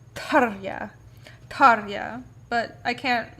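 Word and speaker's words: Tarja: metal because tarya sorry her actual her name is pronounced tarya but i can't like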